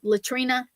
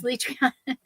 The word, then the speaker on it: Letriana: They'll say Latrina. No, it's Letriana.